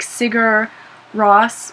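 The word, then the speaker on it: Sigur Rós: an Icelandic band called I don't exactly know how you say it it's like cigar Ross which my friend ion said cigarette but it's s-i-g-u-r space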